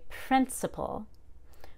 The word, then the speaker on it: principal: But if the word were, say, principal, we would stress two syllables to the left because IP is just a vowel in one consonant. Principal.